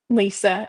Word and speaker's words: Liisa: And hello, Wellness with Liisa or is it Liza? Let us know how you pronounce your name. Do you pronounce it Lisa or Liza? Lisa.